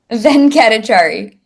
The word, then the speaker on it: Venkatachari: Venkatachari.